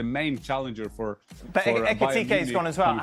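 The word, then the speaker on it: Ekitiké: How do you say Ekitike in a different way than I say it, Jan? How do you say it? Yeah, I'm not sure that I'm right, but Ekitike, I would say that.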